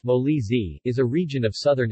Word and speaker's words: Molise: Molly's a pronounced moley Z is a region of